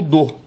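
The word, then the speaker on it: dō: ganharam a roupagem do dô. O do é um um um a pronúncia japonesa, né, para o tal, que é uma doutrina religiosa chinesa, né, que foi importada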